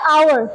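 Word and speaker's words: hour: Been I have silent अब silent है हावर नहीं आवर ठीक है I have been teaching for वन आवर पढ़ रही हूं।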